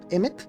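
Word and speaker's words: אמת: Se dice emet. Emet. Lo he escuchado incluso como nombre. Se escribe alf mem t tres letras y significa verdad.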